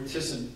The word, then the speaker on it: Thyssen: Or Thyssen, as they pronounce in Germany.